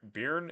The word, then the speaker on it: Byrne: You're welcome, bro, but Byrne is pronounced like burn.